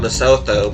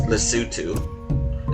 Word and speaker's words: Lesotho: I know it looks like it's spelled Lesotho, but it's... Last time I checked, it could change, but I think the last pronunciation was Lesotho. Is how you pronounce that.